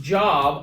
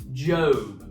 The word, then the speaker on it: Job: talking about the famous job it is not pronounced job although it is spelled that way it's pronounced job so everything that job went through all the